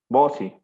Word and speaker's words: Bossi: ¿O cómo se pronuncia tu nombre? Estoy en Bosivar. No. Bossi.